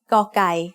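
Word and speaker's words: ก ไก่: pointing to the left the sound of gaukai as the initial consonant of a syllable is it is very similar to a heart g or an unaspirated k do you remember the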